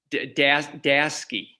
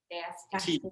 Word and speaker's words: Dasty: Dasty. How do you say? Dasty. Dasky. Dasty. Yeah, Like nasty. nasty, like with the T.